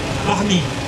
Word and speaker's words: Barney: Je ne sais pas si on dit Barney d'ailleurs ou Barnick, je ne sais pas si on doit prononcer le T. Non, Barney.